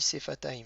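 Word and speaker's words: שפתיים: Ensuite, au pluriel, on dit sefataim. Donc c'est la paire de lèvres. Le signe avec un sheva, on est en début de mot. Le sheva, il se prononce. Donc il se prononce comme un e.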